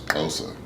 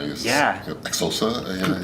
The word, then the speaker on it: Xhosa: I got there, because it's spelled with an X now. Xhosa. Yeah, with an exclamation point. Then when I learned that you had to have that click, and you had to